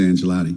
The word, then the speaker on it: Angelotti: me her maiden name oh I got to pronounce that one was it angelotti yeah Lisa yeah Lisa angelotti yeah I knew I I knew it was